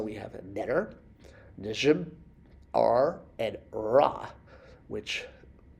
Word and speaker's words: Ra: Sun, as we know, is pronounced Ra, like the sun god Ra, which is a circle with a dot in it.